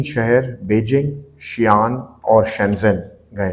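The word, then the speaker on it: 深圳: दूसरा शेंजन बड़ा इंपॉर्टेंट शहर है जिसको चाइनीज शेंजन करके प्रोनाउंस करते हैं और ये हांगकांग का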